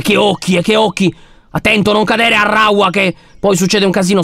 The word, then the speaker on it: Arraua: Egli si chiama Arraua. Si scrive A-R-R-A-U-A, proprio...